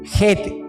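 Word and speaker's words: חית: octava estrofa identificada con la letra get se pronunciaría como J como se pronuncia el el el nombre de los aviones de los Boeing el Jet y el Señor nos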